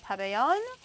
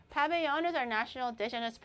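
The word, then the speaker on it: pabellón: in Venezuela is the paveon coro coro coro they said if it's a double l it makes a yo sound.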